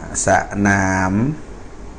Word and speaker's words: สนาม: นะ ฮะ นะ อ่า สะ หนาม นะ สะ อ่า สนาม นะ สนาม น หนู เสียง ตาม ส เสือ ส เสือ เสียง ไรซิ่ง สะนาม อ่า วง